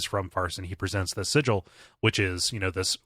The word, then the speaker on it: sigil: come again with that word uh it's it's pronounced sigal you know is Sig no it's it's sigil it's uh yeah it's sigil but they spell